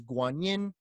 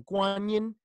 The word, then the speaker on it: Guanyin: This Avalokiteshvara in China becomes the Chinese way of saying Avalokiteshvara is Guanyin, Guan Shiyin, hearer of the world's crying.